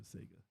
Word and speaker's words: Sega: breath play as a Sega fan don't hold your breath well that's s Sega Sega there you go that's how you say it close that was me